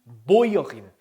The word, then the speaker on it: Bäuerin: die Bäuerin. 자, umlaut의 u는 오이라고 했죠. 오이. 자, 그냥 일단 우니까 Bauer가 맞는데 die umlaut가 붙으니까 umlaut의 오이죠. 오이.